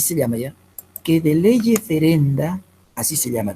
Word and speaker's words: lege ferenda: ferenda, así se llama, de leye ferenda. Leye ferenda significa tal y como debería estar constituido el derecho penal. Por contraposición a leye lata, lege lata se escribe ya, y lo otro es lege ferenda.